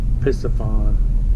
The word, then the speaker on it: Piscifun: It is, if I can pronounce it right, but it is spelled P-I-S-C-I-F-U-N.